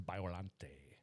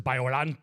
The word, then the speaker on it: Biollante: Godzilla versus Biollante. That's how it's pronounced.